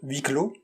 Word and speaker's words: Huis Clos: The play, which was adapted to a film, is by Jean-Paul Sartre, and it's called Huis Clos.